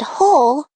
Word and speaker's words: whole: The words who and whole start with wh but make the H sound.